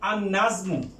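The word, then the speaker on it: النجم: লাম যুক্ত হয় তখন আর নাজমু, এই যে নুন, এই নুনটা হুরুফে শামসিয়া। এই হুরুফে শামসিয়া যদি হয় তাহলে লামের উচ্চারণ হবে না।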